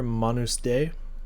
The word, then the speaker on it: Manus Dei: I'm pretty sure this first one here, Manus Day, I believe is how you pronounce that. Latin, I believe.